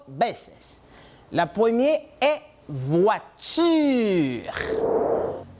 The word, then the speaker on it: voiture: La première est voiture. Voiture.